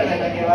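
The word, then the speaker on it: vena cava: Superior वेना केवा, कुछ उसको वेना कावा बोलते हैं, आपको जो प्रोनाउंस करना है कर लो, उसको बुरा नहीं करता।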